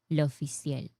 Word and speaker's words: L'Officiel: Um, it is pronounced like in Spanish, lo oficial. Emphasis on last syllable.